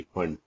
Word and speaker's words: Pfund: कौन सी आ जाएगी, फंड, PFUND, पी है भैया, पी साइलेंट है, फंड सीरीज।